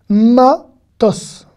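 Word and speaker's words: מטוס: Matos. Matos. Le samer à la fin est e muet, donc il se lit s.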